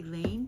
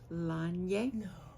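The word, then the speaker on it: Laine: You've heard me say Lane, but it's actually Lanye magazine, and I'll tell you why I learned the pronunciation in just a minute.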